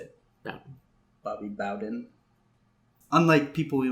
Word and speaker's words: Bowden: Bowden? How do you say it? Bowden.